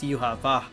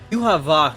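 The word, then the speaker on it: Yhwach: I'm gonna put it up on the screen, but you know, the way the Japanese was pronounced based off of their characters is Yuha Va, so I'm going to pronounce it that way.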